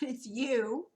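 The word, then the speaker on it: ewe: this one is you you pronounce it you looks like ooh but it's you as the farmer sheared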